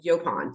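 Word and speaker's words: yaupon: but that's not how it goes It goes yopon so it rhymes with Mo and toe um so yopon is uh you know we have uh our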